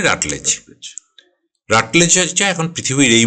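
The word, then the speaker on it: Routledge: সে রাটলেজ, RUTLEDG, ওকে, রাটলেজ, উচ্চারণটা রাউটলেজ নয়, রাটলেজ।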